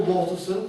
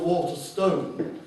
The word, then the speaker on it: Waterson: further will be Jill Waterson and I'm not your name right this time I'm always mispronouncing it as Jill Walter Stone which is not her true name so I apologize Jill's